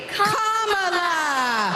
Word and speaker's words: Kamala: Put it together, and it's 1, 2, 3, Kamala. All right, so let's practice. Let's practice. Everybody over here, say Kama. Everybody over here, say La. Together. For president. So those are Kamala Harris's grandnieces, and they're making a virtue of that.